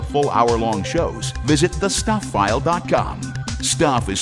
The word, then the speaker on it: Stuph: Stuph is spelled S-T-U-P-H.